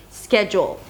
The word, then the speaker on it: schedule: Schedule, the first syllable is the primary stress, so it's higher in pitch and longer. Schedule. Let me look at my schedule.